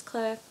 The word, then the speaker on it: Claire: But in case you didn't know, my name is Claire, rhymes with chair.